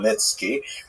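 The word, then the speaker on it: Khmelnytsky: It's actually pronounced Nitski with a guttural at the beginning.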